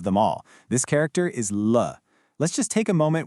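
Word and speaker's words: 了: This character is L. Let's just take a moment with the sound L. It's pronounced with that neutral fifth tone.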